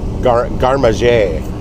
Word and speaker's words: garde-manger: But it's like G-A-R-D-E, but it's pronounced garde-manger.